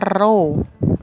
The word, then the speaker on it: rho: Massa jenis ini dibacanya rho, ya kan?